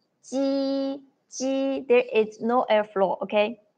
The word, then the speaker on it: 鸡: 七，七，七。But when you pronounce 鸡鸡 there is no airflow, okay?